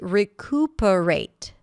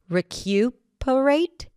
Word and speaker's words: recuperate: Some people might pronounce it with a Y - 'recyuperate', but you can just drop it and say recuperate. That's how I say it.